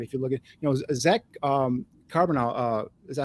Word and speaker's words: Charbonnet: If you look at, Zach Charbonnet, is that how I pronounce his name? Charbonnet.